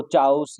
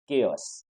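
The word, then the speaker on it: chaos: इसको चाउस या कुछ इस तरह का और प्रोनाउंस नहीं करेंगे, तो ये वर्ड प्रोनाउंस होगा एज केओस।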